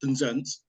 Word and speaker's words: Penzance: uh I mean look I call it Penzance but a lot of locals call it denzence um so there's there